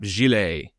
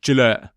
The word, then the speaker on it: Gillette: So invented in 1895, we saw the disposable razor blade, which was brought out by King Camp Gillet, or if you want the British pronunciation, Gillette.